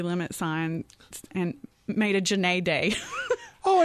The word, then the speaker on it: Jenee: But the awards and, my hometown put my name up on the city limit sign and made a Jenee Day. Oh, it rhymes so nicely, too. Jenee Day.